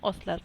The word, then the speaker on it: ostler: यहाँ पर हॉर्स आपको लग रहा होगा ये हॉस्टलर है, लेकिन एच इसमें साइलेंट होता है, इसको हम सिर्फ पढ़ते हैं ऑस्लर, ठीक है।